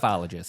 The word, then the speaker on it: ufologist: They use the O in UFO for the ologist, so I don't know how you want to pronounce it. Ufologist. Yeah, this feels better that way. Weird thing is to pronounce the letters separately and then make a word at the end.